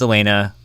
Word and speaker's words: Elena: That's the French pronunciation of Elena. Brenda, come on. I learned nothing about Steve. I guess there are just a couple people I know their name, I know how to say it, I've asked 30,000 times already, but I'm just gonna overthink it anyway. I know it's Elena, but I'm old.